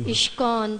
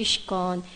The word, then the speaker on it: ISKCON: least 10 years ago or they say ishkan because maybe Krishna it's Krishna Consciousness we say ishqon or we say like